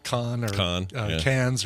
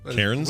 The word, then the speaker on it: Cairns: in that foreign tongue, like that city in Northern Australia, Cairn. Mm-hmm. Which we'd all call Cans or something like that. Sure. Or Karens. I think it's Karens. We pronounce it Karens, Cairns.